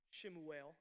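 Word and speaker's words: שְׁמוּאֵל: Shemuel is how it's pronounced.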